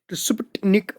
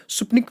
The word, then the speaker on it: Sputnik: तो आपको याद रखना है, it was स्पुटनिक फर्स्ट, या इसको T साइलेंट करके आप स्पुटनिक फर्स्ट पढ़ सकते हो, जैसे भी आप प्रोनाउंस